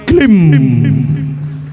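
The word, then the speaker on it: क्लीं: माया बीज मंत्र है, क्लिंग जो है काम बीज मंत्र है, ये महाकाली का महामंत्र है। लेकिन इसमें अनुस्वार लगेगा, अभी ये क्ली क्ली कर रहा है, लेकिन असल में इसका उच्चारण है क्लिम, ये इसका उच्चारण है क्लिम।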